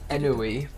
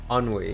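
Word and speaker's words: ennui: I've never heard Enoi. Enoi, huh? I'm going to search that up. Enoi. Listeness and dissatisfaction arise in a lack of occupation or excitement. Unwe.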